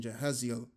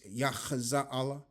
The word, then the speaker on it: Jahaziel: And all Judah stood before the Lord Yahweh with their little ones, their wives and their children, and Jehaziel, which I believe the pronunciation is Yachaza'Allah.